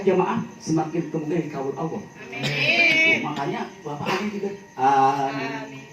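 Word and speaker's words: آمين: Dan kemudian amin. Bu, amin itu A-nya panjang, Mi-nya panjang, I-nya pendek.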